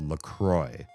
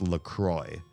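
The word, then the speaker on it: LaCroix: write on the can, they say it's pronounced LCROY, but they spell it like the French words L. The cross. The cross.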